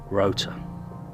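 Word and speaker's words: Rough Tor: is to climb up rough tour pronounced Rota the second highest point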